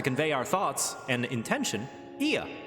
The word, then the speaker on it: Ea: When the vibration of vocal folds was still required to convey our thoughts and intention, Ia, I believe, was the pronunciation we used when referring to our people.